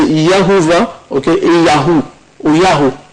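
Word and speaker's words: Jehovah: On parle, c'est Jéhovah, c'est prononcé Yahovah, ok, et Yahoo, ou Yahoo, c'est la même chose, comme ça.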